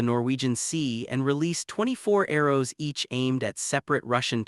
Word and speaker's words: ARRW: At hour 27, the Air Force reveals its own monster, the AGM183A ARRW air launched rapid response weapon, pronounced arrow.